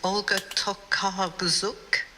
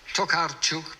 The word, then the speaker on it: Olga Tokarczuk: Now, I might not be able to pronounce this properly. It's Olga Tokarczuk. It's, yes, or Tokarczuk, but you're obviously onto the right person.